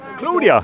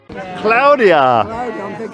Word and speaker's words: Claudia: Because apparently it originated in Spain, and that's how they pronounce it over there.